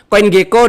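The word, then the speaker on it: CoinGecko: eh tersedia proof of reserve di CG ya Indonesia bacanya Coin Geko dan CMF.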